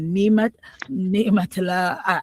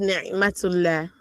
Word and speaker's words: Naimatullah: Okay, it's pronounced Naimatullah. Naimatullah. Okay.